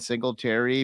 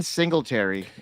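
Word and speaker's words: Singletary: of the week here uh it's uh Deon sleary because you got I think you mispronounced that why don't you read the show show sheet says sigle Terry um it's Devin single Terry it's Devin Dingle ter and Shout Out Amber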